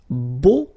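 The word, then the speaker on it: beaux: plural version and it's Bo okay so you put this EX at the end but then you don't pronounce it so it's Bo all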